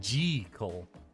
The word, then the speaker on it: Jekyll: only stay for six hours uh Jackal is pronounced according to the author as G Cole J equal Dr jekal yeah that Dracula also got